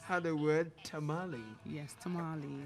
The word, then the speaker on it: tamale: word tamale yes tamale it was pronounced tamale yes it tastes i get the pronunciation i mean it's like tamale yes so and and the funny thing is they both are nouns so tamale is the name of uh spanish i think it's a spanish dish okay spanish and it is so again that's how the the owners of the language pronounce it tamale it is tamale